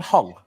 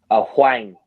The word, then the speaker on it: Huang: Sorry, is your name Hong? Huang, to be exact.